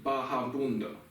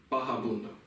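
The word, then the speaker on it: vagabundo: This word is spelled in English V-A-G-A-B-U-N-D-O. Baga, baja. See, baja bundo.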